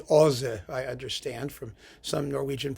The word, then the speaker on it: Åse: And it's wonderful to compare it to the previous work in the suite, which is Ozzy's Death, or it's pronounced actually Åse, I understand, from some